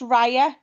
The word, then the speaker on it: Raia: It's not Ria, it's Raya. But I spell it Raia.